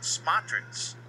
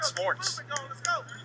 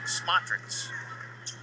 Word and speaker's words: Smotrits: Understanding that it's actually pronounced Smotrits. Sometimes you need to go ask the players because the coaches a lot of times don't know. I asked the coach directly. I said, calling Smorts. Maybe that's what they call him, is Smorts, because sometimes those guys' names you can't pronounce. And they give them acronyms or abbreviations. So my apologies, I've been calling it Smorts. It is Smotrits.